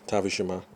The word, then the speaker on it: Tavish Shima: at the next recording I'm your host tavish Shima and yes my name rhymes with Hiroshima see you at the